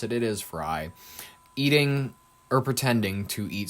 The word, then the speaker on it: Frey: We have the Minneapolis mayor, Jacob Frey, however you pronounce it, it is Frey, eating or pretending to eat Somali food in an attempted show of solidarity.